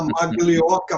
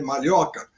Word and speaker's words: Maglioca: Então, eu com esse sobrenome que vocês estão vendo aí, que é italiano, que muita gente ainda fala Maglioca, mas a pronúncia correta é Malhoca, fui chamado de Maloca, Minhoca, e outras coisas mais, além de narigudo e outras coisas.